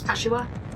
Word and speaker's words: Kashiwa: People in chat know way more about Japanese than I do, but I think it's Kashiwa. Kashiwa. Basically, you don't put an emphasis on any syllable. Right. Kashiwa. Equally, do not emphasize anything.